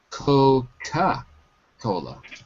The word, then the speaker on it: Coca-Cola: But there it's Coca-Cola. It's spelled without the second O. But you're right. It's Coca in that case.